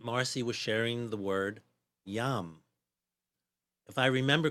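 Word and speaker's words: yam: heart space along with the speed mantra which is pronounced YUM and I thought I'd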